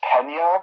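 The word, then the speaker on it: Michael Peña: believe it's pronounced Pena because it has a little squiggly on top of one of the letters.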